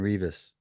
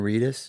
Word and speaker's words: Reedus: I'd like to have breakfast with uh Norman Rivas. Revas, how do I say his name? Oh, from Daryl Reus. Norman Reedus.